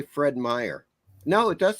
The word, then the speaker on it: Meyer: I mean is this spelled Meyer with a J or not? It's just Fred Meyer. Oh, it's Fred Myers. That's what it's called. Fred. Oh, actually, no. They say Fred Meyer.